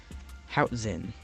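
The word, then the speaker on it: Hoatzin: these guys do uh next up is the how Zen that's how you pronounce this I'm going to put up the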